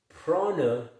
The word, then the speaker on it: prana: pronounced prana.